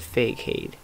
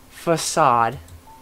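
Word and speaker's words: façade: pause and then put fake hate or sorry facade I don't I don't know I keep saying fake it facade I got told I said it wrong basically yes so this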